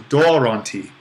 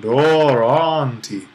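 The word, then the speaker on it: δῶρόν τι: For the most part, we'll just keep on accenting the original accent. So doronti would probably be the way to do it in our kind of modern pronunciation of Greek.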